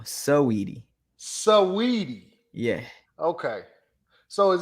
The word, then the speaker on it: Saweetie: Okay, so you ain't saying Sweetie. No, Saweetie.